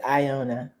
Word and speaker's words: Iona: Iona concepts. Is that how I pronounce? Yes. Iona.